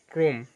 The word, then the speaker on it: ক্রম: বন্যা হয়ে গেছে বন্যা শব্দের শুরুতে অ যুক্ত রফলা থাকলে তাহলে আদ্য এর উচ্চারণ ও এর মত হয় যেমন ক্রম আদ্য অ এর পর